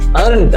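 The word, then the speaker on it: earned: ಅರ್ನ್ ಅರ್ನ್ಡ್ ಅರ್ನ್ ಅಂದ್ರೆ ಗಳಿಸಿದ ಅಲ್ಲಿ ಎ ಆರ್ ಬಂದಿರೋದ್ರಿಂದ ಈ ಸೈಲೆಂಟ್ ಆಯ್ತು ಅರ್ನ್ಡ್ ಆಯ್ತು ನೆಕ್ಸ್ಟ್ ಲೆಟರ್ ಯಾವುದು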